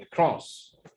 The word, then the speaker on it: across: لا cross the stress is on the second syllable across the world ما تقولش world ولا world لا